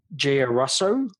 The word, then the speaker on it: Giarrusso: And also you can find out more about Renee at Renee Giarrusso, I should say, .com. So maybe you pronounce that so they get the URL right.